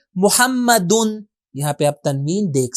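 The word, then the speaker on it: مُحَمَّدٌ: تو دیکھیں ہم کیسے تلفظ کریں گے، محمدن.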